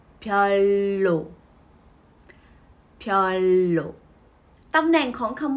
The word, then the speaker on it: 별로: ค่อย ใน ภาษา ผลิต ออก เสียง แบบ นี้ นะ คะ พลอย โล่ ทอน โล่ ตำแหน่ง ของ